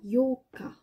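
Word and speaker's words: 八日: Le 8 va se prononcer Yoka. Le 4, c'est Yoka. Dans le 4, il y a un O et 2 K. Dans le 8, il y a 2 O et 1 K.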